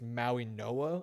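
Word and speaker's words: Mauigoa: I think it's Maui Noah I want to say is how you pronounce it. I think the G is pronounced as an N.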